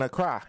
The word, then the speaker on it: Accra: Yeah, in Accra. It's pronounced Accra. Accra.